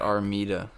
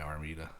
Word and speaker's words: Armida: Or is it Armida? Is it Armida? I think it's an I, Armida. Armida?